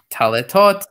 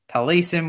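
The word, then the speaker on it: tallitot: And yes, those shoals are called taletot. That's how it's pronounced. Talesim, which is plural for or talit.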